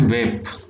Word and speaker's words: Weipa: छोटी जगह है लेकिन आपके लिए इम्पोर्टेंट है, वेप। मैं स्पेलिंग लिख देता हूँ, WEIP, वेपा, WEIPA, वेपा।